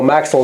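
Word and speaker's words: maxel: So maxil is supposed to rhyme with pixel, and there's a close connection.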